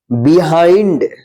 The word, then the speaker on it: behind: MILD, इसको मिल्ड नहीं माइल्ड पढ़ेंगे। BEHIND, बिहाइंड। MIKE, माइक।